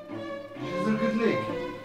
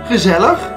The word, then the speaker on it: gezellig: Gezellig!